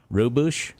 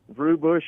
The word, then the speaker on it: Rubush: pronounce the street name right. Robush? Robush. Rubush Avenue.